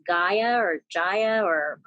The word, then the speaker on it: Gaia: do i access it it's an app called jaya it's called gaia is a is an app that well gaia